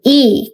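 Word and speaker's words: 이: iuna adalah orang Korea iuna ini bukan Li ya dibacanya itu I kalau di Korea iuna berarti I Yuna iuna ini kalau di romanization itu jadi li tapi dibacanya tetap I iuna shinen hanggu saramita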